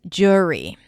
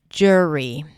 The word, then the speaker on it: jury: The next one is jury. jury. We start with a J sound and then it's the or as in poor.